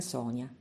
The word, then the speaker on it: Sonia: Mi chiamo Sonia, pronunciato in italiano come Sonia, ma scritto come un nome straniero.